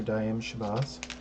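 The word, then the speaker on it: Daaim Shabazz: Got his name pronounced right. Professor Daim Shabazz.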